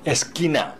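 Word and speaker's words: esquina: 무조건 Q-U-E, Q-U-I에서 U자는 보조글자이기 때문에 발음하시면 안 된다는 거 잊지 마시고요.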